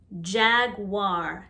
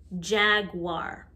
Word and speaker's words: jaguar: long a sound jaguar jaguar sounds like there's a w after the g jaguar turtle the second t